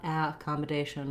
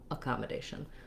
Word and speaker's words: accommodation: in the first syllable so many words that start with a that are not stressed on the first syllable have the schwa a sound not accommodation or ah accommodation but uh accommodation so it doesn't do a or a or ah any of the other sounds for letter a it does the